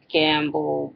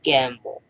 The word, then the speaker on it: gambol: And it sounds like gamble, but it's gamble.